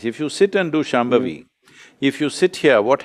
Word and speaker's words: Shambhavi: Can you pronounce Shambhavi? Shambhavi.